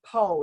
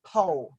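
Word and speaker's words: Pau: And he told me it's Poe, like P-O-E.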